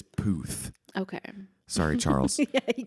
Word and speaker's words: Puth: What do you say? Puth? Pluth, because I hate that it's Puth.